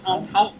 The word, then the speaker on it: Montauk: And then Saturday we're going to do, is it the Montauk? Is that how you pronounce that? The monster? Montauk? Montauk.